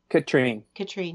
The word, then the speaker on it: Katrin: Katrine, yeah.